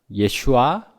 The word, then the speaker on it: 예슈아: 우리가 그리스도로 고백하는 헬라식 이름 예수도 히브리식으로 발음하면 예슈아 곧 여호수아이기도 합니다.